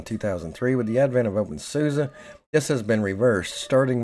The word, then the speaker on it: openSUSE: distribution officially renamed to open soua as it is pro pronounced similarly to open source until version 13 stable